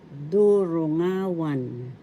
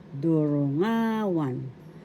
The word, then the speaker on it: durungawan: that means in Tagalog, durungawan. Durungawan. First syllable du, second syllable ru, third syllable nga, fourth syllable wan. The accent is in the third syllable nga. Durungawan.